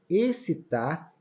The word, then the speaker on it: excitar: de z tá vendo excitar esse x aqui ele tem um som de s tá e exótico exótico